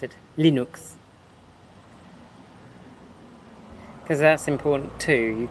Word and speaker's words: Linux: Obviously, Linux, which is how you pronounce it, Linux.